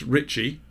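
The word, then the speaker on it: Ricci: name RICC I Ricky is pronounced Ritchie okay okay one of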